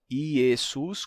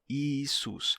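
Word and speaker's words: Ἰησοῦς: e mudou para I Então você pode pronunciar tanto ius com e iesus como também ius com i isus as duas pronúncias seriam comuns no cristianismo primitivo yesus isus Essa é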